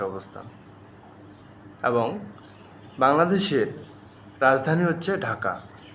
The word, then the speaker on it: ঢাকা: ঢাকা ইংরেজ শাসনামলে বা আগে ঢাক্কা উচ্চারণ করা হতো। কি উচ্চারণ করা হতো? ঢাক্কা। কিন্তু আমরা জানি সামরিক প্রশাসক লে জেনারেল এইচএম এরশাদ তিনি একটি বৈঠক করেন এবং এই বৈঠকে ঢাক্কা নাম পরিবর্তন করে ঢাকা লেখা হয় এবং তখন থেকে বাংলাদেশের